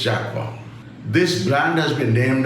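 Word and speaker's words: Jaquar: Wrongly pronounced as Jaguar by a lot of people but it's Jaqua.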